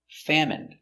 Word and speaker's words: famine: Remember, medicine, margarine, intestine or intestines, more than one, genuine, famine. Remember, it's countable, a famine, and jasmine. So all of these words are pronounced with the in sound for the ine.